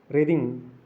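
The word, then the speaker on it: wreathing: रीडिंग, W silent letter होता है।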